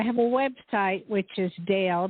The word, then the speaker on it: Dayle: a website which is Dale d a y l e Dale s c